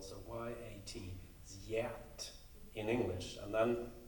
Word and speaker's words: Yat: His name is pronounced in Swedish Yat. So that's, and then he spelled it so it sounded like Yat in English, as close as possible. So Y-A-T, Yat in English.